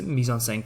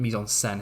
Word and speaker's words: mise-en-scène: So the proper way of spelling mise-en-scène, hence why it's got that eh sound when you pronounce it.